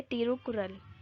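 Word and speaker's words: तिरुक्कुरल: उसके बाद यहाँ पे आ जाता है तिरुकुरल, ठीक है, करेक्ट इसकी प्रोनाउंसिएशन यही है, तिरुकुरल, ये वो बुक का नाम है।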